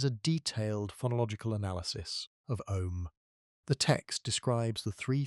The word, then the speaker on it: Om: The most widely known Biya is Om, also written as AUM. The syllable is composed of three sounds, A, U, and M, that together produce a specific acoustic envelope when uttered correctly.